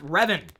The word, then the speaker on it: Revan: to arrive today my Darth Revan minifigure I mispronounced it the other day and I apologize for it uh Darth Revan I'm not a player of the uh the